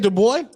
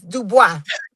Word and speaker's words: Dubois: boy fight, hold on, I said her name wrong. Caroline Dubois. She All right. Caroline Dubois fight. Wait, you said Dub boy? It's Dubois.